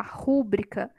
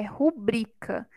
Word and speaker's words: rubrica: e e isso é a gente até ouvir né falar rubrika mas não é rubrika é rubrika a sílaba tônica é a penúltima é uma palavra paroxítona então aqui e a